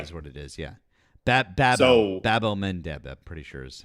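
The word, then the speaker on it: Bab-el-Mandeb: It's Bab el Mandeb. Bab el Mandeb is what it is. Yeah. Bab el Mandeb.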